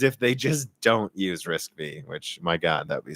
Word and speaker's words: RISC-V: So, it's pronounced RISC-V.